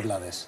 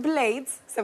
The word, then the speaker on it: Blades: es plate o rubén blades es blade se pronuncia como cuchillo en inglés pero mucha gente lo conoce como blades de hecho nosotros recomendamos